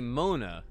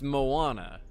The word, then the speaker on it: Moana: I think I say Mona. And it's Moana.